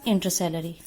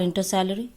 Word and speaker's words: intercalary: is the apical and here is inter celery you can call in to salary as well intercalary both pronunciations are correct third one is literal